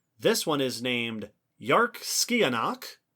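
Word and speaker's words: Dearc sgiathanach: This one is named Yarkskianach. The name is not spelled like it should be pronounced that way because it is Scottish Gaelic.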